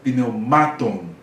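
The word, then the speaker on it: πνευμάτων: E a última sílaba aqui, ton, tá? Ton tem esse ômega, aí puxou aqui o acento dessa sílaba para essa sílaba. Aí fica pneumaton, tá?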